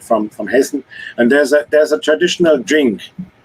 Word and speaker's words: Hessen: So the state I am from is called Hessen. Yes. You would call it Hesse, but it's actually pronounced Hessen. There's an N at the end.